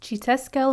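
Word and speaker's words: Xiuhtezcatl: editing press here to tell you that it's chitesquel martinez back to the video but this is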